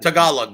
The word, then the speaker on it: Tagalog: Yeah, it's Tagalog. Yeah, that's how you pronounce it.